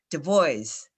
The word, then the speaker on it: Du Bois: Oh, and how do we say it right? Du Bois.